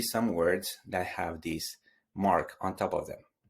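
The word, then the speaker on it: mò: But if the O has the accent grave on top of it, you just change the pronunciation. And instead of being a closed sound, it's going to be an open sound.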